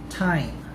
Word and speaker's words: thyme: Here are examples of words with the letters T and H pronounced as T or the T sound. Thailand, discotheque, Esther, thyme, Thomas.